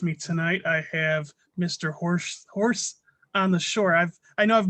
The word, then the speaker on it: HorseOnTheShore: Horse on the Shore. I know I've mispronounced your name several times on previous podcasts. I think I called you Horse on the Shoe.